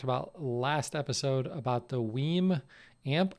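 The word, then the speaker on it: WiiM: He's referencing the story that we talked about last episode about the Weem amp. I'm still going with Weem as the pronunciation of W-I-I-M, capital M for some reason.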